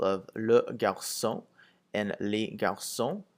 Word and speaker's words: garçons: So if you look at the example of le garçon and les garçons, garçon without an S and garçon with an S sounds exactly the same.